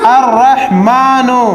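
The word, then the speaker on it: رحمن: न क्या हो गया रहमान कायदा है ये लाम जो है यह साइलेंट है यह लाम नहीं पढ़ा जाएगा डायरेक्ट रा पढ़ा जाएगा अलिफ रा जबर अर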